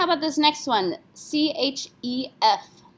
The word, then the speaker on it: chef: C-H-E-F. Yes, we have to pronounce this. C, R, F, and L are our careful letters. F is one of those, so we say chef.